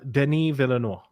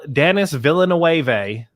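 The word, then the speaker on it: Denis Villeneuve: is the director uh denis villanova that's what it is didn't even i i honestly i had to look up how to pronounce his name today because before today i was using my uh my my uh kentucky my kentucky brain and i've been pronouncing it like a full peggy hill voice just dennis villanuevae in the last few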